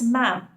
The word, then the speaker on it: Madam: In spoken English, we do pronounce Madam as ma'am. In speaking, it's very easy to say ma'am, but when it comes to writing, it's a little difficult one.